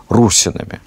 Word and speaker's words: русины: народами иногда называем их русина Хотя правильнее было бы с точки зрения древнерусской грамматики и фанатики наверное с ударением на первый слог русина Ну вот русины собственно